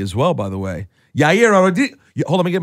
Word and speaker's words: Yair Rodriguez: Just pronounce your Mexican brother. Yair Rodriguez.